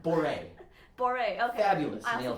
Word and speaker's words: Bourrée: So I'm playing the Bach Cello Suite number 3, Boris 1 and 2. I actually don't know how to pronounce the word. I have never learned how to pronounce it. That was great. Yeah. It's Boré.